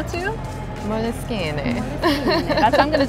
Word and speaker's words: Moleskine: It's an Italian company. I'm not going to pronounce it the Italian way. Uh-huh. Do you know how to? Moleskine.